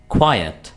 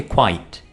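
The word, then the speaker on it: quiet: क्वायट। क्वायट ना कि क्वाइट। ठीक है? इसको आपने क्वाइट नहीं बोलना।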